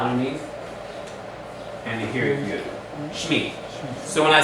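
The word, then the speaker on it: שמי: Shemi. No, how do you say name in Hebrew? Shem. Shem. How do I say my name? Shmi.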